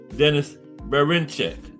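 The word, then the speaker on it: Denys Berinchyk: Denis Berinchek. Yes, that's how you pronounce it.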